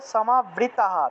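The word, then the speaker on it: সমাবৃতাঃ: এভাবে উচ্চারণ মহজাল মোহজাল সমাবৃতাহ বিসর্গ থাকায় হ সমাবৃতাহ প্রসক্তাহ বিসর্গ থাকায় হ প্রসক্তাহ কামভোগেসু কামভ ভোগেসু পতন্তি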